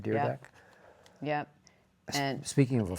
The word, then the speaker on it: Dyrdek: started August 29th, 2011, and how do we pronounce Rob? Dyrdek. Dyrdek.